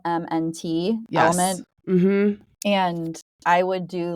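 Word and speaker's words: LMNT: it's actually very popular in podcasts I've heard it's spelled l MNT element mhm and I would do little packets of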